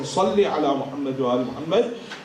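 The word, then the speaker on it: صلّ: Ali Muhammad by saying, Salli ala Muhammad wa Ali Muhammad, instead we say Salli with the Sin, we say, oh Allah kill Muhammad and Ali Muhammad. Because we don't pronounce the Sad.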